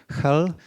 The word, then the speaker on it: Hel: And the last stop on this peninsula is a small town called Hell. Do not mistake it with the English name. It's pronounced h e l a single l.